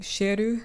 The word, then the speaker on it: Ciel: going to be making sheru because that's how they pronounce the anime so these are the